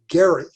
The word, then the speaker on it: Gerry: whose last name was spelled g-e-r-r-y he actually pronounced it gary elbridge gary his party and parties weren't very